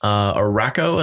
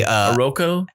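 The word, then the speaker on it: Arakko: Araco, am I saying it right? It's a Aroko? It's a anagram of Krakoa, so it's some sort of variation of those letters. I believe it's Araco, though. Okay, so in proper Hickman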